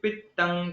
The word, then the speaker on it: पित्तं: वायुः पित्तं कफश्चेति त्रयो दोषाः समासतः। वायुः पित्तं कफश्चेति, पित्तं कफ, ऐसा उच्चारण अनुस्वार का करना चाहिए।